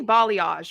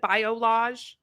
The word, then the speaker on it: balayage: And it's definitely balayage, right? Like I'm saying it right. Balayage. She said bolage. Bage. Bile like gallbladder.